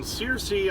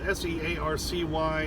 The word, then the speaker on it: Searcy: I'm down here at the Loves in Searcy, I think is how it's spelled, S-E-A-R-C-Y, and I'm sure if I'm wrong, somebody will correct me in the comments.